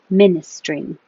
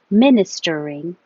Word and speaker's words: ministering: You can say with 4 syllables, ministering, or 3 syllables, ministering. Ministering or ministering.